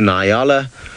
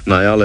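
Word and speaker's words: nyala: past there's a few niala on Yala have seen Nile is the wrong pronunciation in yalla is the more applicable one there you can see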